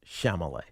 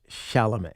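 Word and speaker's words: Chalamet: No, nobody can say it right. Everybody on this station except for me and Sean says Shamlet. Are you sure? It's Shalamé.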